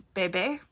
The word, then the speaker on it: Bebe: but her name is Bebe. B-E with an emphasis, B-E-E with an emphasis on the first E.